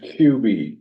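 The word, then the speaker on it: Kub: Is pronounced QB, K-U-B, like QB, quarterback, okay?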